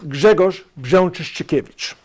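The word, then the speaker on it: Grzegorz Brzęczyszczykiewicz: 49 on the homework it's pronounced Jagger's Jean cheesy cabbage first and last name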